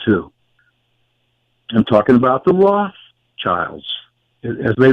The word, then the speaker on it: Rothschild: I'm talking about the Rothschilds, as they like to pronounce it. I like to pronounce it as two German words, Red Shield, Rothschild.